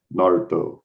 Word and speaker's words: Naruto: It's kind of like Naruto, if any of you watch him. The U is silent. Naruto.